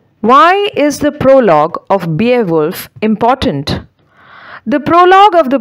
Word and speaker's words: Beowulf: of english literature is beowulf the spelling is b e o w u l f but the pronunciation is beowulf so beowulf is english literature's